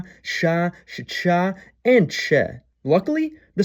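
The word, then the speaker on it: Ч: Its name is ch. It appears in every cerillic script using language and it makes the same sound in all of them. Ch.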